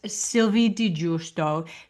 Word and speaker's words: Sylvie di Giusto: Welcome to the podcast, Sylvie di Giusto. Did I get your name correct? Because it's a little bit tricky to pronounce.